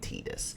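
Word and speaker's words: Tidus: Titus yes his name is Titus I know it's spelled t-i-d-u-s it's Titus and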